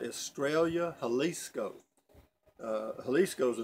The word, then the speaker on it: Estrella: Estrella, it's Estrella, and it's pronounced Estrella. A double L in Spanish is a Y.